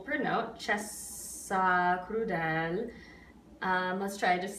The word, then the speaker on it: cessa: sing cessa, so not chessa, right? It's very tempting to do, but you want to put the double S on that second note of it.